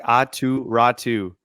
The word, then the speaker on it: Aatu Räty: No, like Aatu Ratu. Aatu Yeah, like his Ratu. name basically rhymes. Oh, Aatu Ratu?